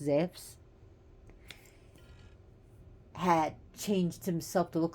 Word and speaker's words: Zeus: You know how in the stories, Zeus, actually, aka Zeus, but his name is pronounced Zeus, had changed himself to